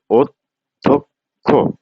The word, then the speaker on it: অধ্যক্ষ: দ কারণ হচ্ছে যে মহাপ্রাণ ধ্বনির সাথে যদি জ ফলা থাকে তাহলে প্রথমে অল্পপ্রাণ তারপরে মহাপ্রাণ তাহলে উচ্চারণ হচ্ছে অধ্যক্ষ অধ্যক্ষ অদ্য অর্ধ না